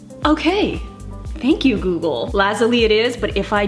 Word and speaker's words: Lazuli: How do you actually pronounce this? For crying out loud. Dear Google, how the f do you- Lazuli. Okay. Thank you, Google. Lazuli it is, but if I do say Lazuli,